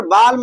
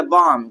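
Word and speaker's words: balm: तो यहां पर बालम नहीं होगा। क्या होगा भैया? बाम। क्या होगा? बाम।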